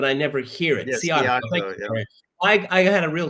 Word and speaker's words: Szijjártó: George, how do you pronounce the Hungarian foreign minister's last name? Oh, Szijjártó. Szijjártó. Okay, I always read it, but I never hear it. Yes, Szijjártó.